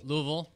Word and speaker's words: Louisville: Oh, Louisville. Louisville. That's how you say it.